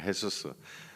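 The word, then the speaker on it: Jesús: 지저스라는 이름을 너무 좋아해 가지고 그 사람들 말로 헤수스 제가 H 발음으로 나니까 헤수스 한 30%가 횟수스예요.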